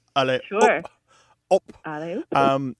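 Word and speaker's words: allez-oop: Allez, oop. And it's not the English word up, but it sounds like it.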